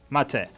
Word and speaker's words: mate: say it I say matcha mate matate mate like mate like the the finishing like M mat mat mate mate exactly yes that was that